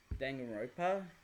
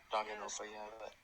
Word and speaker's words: Danganronpa: There is one anime that I want to watch another anime that I want to watch called Danganronpa, I think it's pronounced. Danganronpa, yeah.